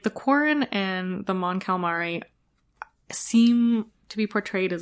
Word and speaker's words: Mon Cala: The other race on Naboo, like on Mon Calamar, how are you pronounce it? Mon Cala, yeah, no, super confusing.